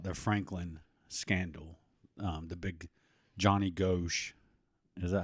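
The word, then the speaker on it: Johnny Gosch: I was listening to another pod, and they were talking about the Franklin scandal, the big Johnny Ghosh.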